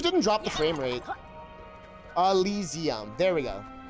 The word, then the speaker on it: Elysium: Elysium. There we go. It's like it doesn't look like how it's said. Elysium. Elysium.